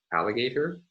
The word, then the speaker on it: alligator: the primary stress so in this word alligator the primary stress falls on the leftmost syllable of the word but there is a stronger there is a weaker degree obsessed stress secondary stress falling on the third syllable so in languages like